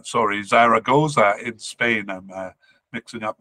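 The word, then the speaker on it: Zaragoza: Spain uh but is currently on loan to Zara zoga H sorry Zara goza in Spain I'm mixing up my syllables here uh he was with Benfica in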